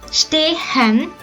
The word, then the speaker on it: stehen: The letter H in the verb stehen is used as a lengthening H.